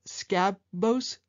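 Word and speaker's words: Sakobs: I think it's pronounced Skabos, S-A-K-O-B-S, computer speakers.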